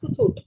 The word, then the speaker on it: Kahoot: Actually, I had referred to, I didn't know it was pronounced Kahoot. I was pronouncing it wrong.